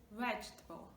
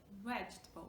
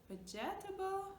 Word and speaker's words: vegetable: We don't say vegetable, vegetable. We don't pronounce the GE sound, so there are syllables vegetable, okay? We're just like dropping this connecting E between the two parts of the word.